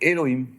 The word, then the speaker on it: אֱלֹהִים: ne suis pas sûr, on a Yud Ke Vav Ke et on va le prononcer Elohim.